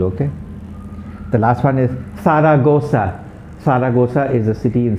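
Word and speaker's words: Zaragoza: as a vegetable okay the last one is sara gosa saragosa is a city in spain okay faragosa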